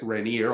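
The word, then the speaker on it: Rainer: I would pronounce it reneer although not technically proper in German zlan uh and the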